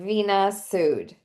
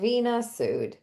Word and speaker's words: Veena Sood: just the way it's spelled, Veena Sood.